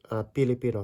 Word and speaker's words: Filipino: Like even the name of the Philippines or the people, the Filipino, Filipina, Filipinx. When a native would say them, you'll really often hear Pilipino, Pilipina.